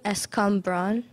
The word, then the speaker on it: escambron: Escambron?